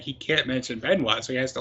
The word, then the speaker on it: Benoit: His name rhymes with Canois. It was Benoit, wasn't it?